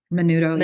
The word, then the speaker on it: Menudo: And then you have the Menudo. Is that how you say it? Menudo, yeah.